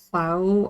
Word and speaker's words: Claux: A man by the name of Nicholas Clow, I think that's how you pronounce it, because the X I think is silent at the end.